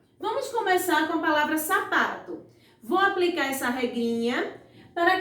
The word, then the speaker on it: sapato: A sílaba que eu mais demorei pronunciando, gente, foi a sílaba pá. Então, se eu passei mais tempo pronunciando a sílaba pá, então a sílaba pá é a sílaba tônica da palavra sapato.